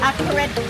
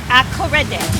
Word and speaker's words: Akorede: Akorede. That's perfect. I already taught him how to pronounce Garamola, so that's easy. Spell it as pronounced. So A-KO-RAY-DAY. Akorede.